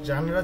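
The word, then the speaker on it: genre: আচ্ছা, এটার উচ্চারণটাকে খেয়াল করেন, এটা জেনারও হবে না, জেনিয়রও হবে না, এটার উচ্চারণ হচ্ছে জানরা, ওকে, জানরা।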